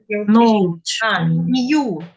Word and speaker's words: knew: New. No, it's new. New. Так же, как новый, только K у нас не произносится.